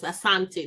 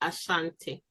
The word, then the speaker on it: Asante: The Asante, the proper pronunciation is Asante, not Ashanti.